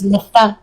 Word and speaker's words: Lestat: You never pronounce the last letter. If I was saying if it is supposed to be French, I don't know if it is, but if it is, then it's Lista.